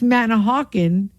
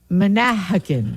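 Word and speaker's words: Manahawkin: this and it's true how come it's manah hawen right and not Manakin right Manakin so okay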